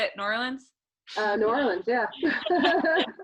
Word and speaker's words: New Orleans: New Orleans, yeah. It's got New Orleans. I'm not Southern, so I'm not gonna make it one word. It's 2 words.